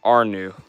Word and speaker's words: Arnu: He says, by the way, you pronounce my name like Arnu.